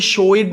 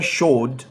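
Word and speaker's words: showed: अच्छा, हालांकि ईडी आया हुआ था, लेकिन मैंने इसे शोइड नहीं पढ़ा, मैंने इसे लिविड नहीं पढ़ा, मैंने इसे प्लेड नहीं पढ़ा, बल्कि मैंने पढ़ा है शोड, लिव्ड, प्लेड।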